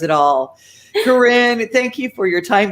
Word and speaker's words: Corinne: So Corinne. Corinne, yes. Corinne, Like okay. Corina, Corina, the song.